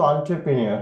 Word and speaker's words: entrepreneur: কোন entrepreneur যেটাকে বলে, এই entrepreneur সঠিক উচ্চারণ হলেও আপনি এটাকে মনে রাখবেন এন্ট্রিপ্রেনিউর, হ্যাঁ, এন্ট্রিপ্রেনিউর এভাবে বলবেন। সঠিক উচ্চারণ কিন্তু entrepreneur, হ্যাঁ, কিন্তু আপনি বলবেন এন্ট্রিপ্রেনিউর, তাহলে বললে আপনার বানানটি ভুল হওয়ার সম্ভাবনা থাকবে না প্রিয় শিক্ষার্থী, হ্যাঁ।